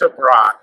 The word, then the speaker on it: Tebrake: I mean, it gets butchered all the time, so but it's Tebrake.